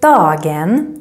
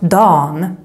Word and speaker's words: dagen: So the word dagen, the day, can sometimes become dawn, the day. For example, instead of saying jag jobbar på dagen imorgon, they might say jag jobbar på dagen imorgon.